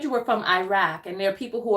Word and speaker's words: Iraq: call it themselves okay it it's Iraq even in Arabic it's a rock so Iraq but I personally don't mind by the correct pronunciation according to the Arabic language is Iraq okay okay because I'm